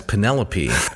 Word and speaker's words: Penelope: everyday speech sure so I thought that the individual's name was penelopee I didn't know that she was called Penelope uh similar to when I